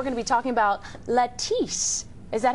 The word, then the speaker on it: Latisse: here and we're going to be talking about Latisse is that how you say it that is